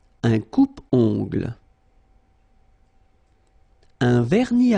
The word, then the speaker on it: vernis: Final S here not pronounced. Same thing here.